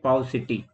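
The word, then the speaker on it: paucity: पाउसिटी, पाउसिटी, ये इसकी प्रोनाउंसिएशन होती है पाउसिटी।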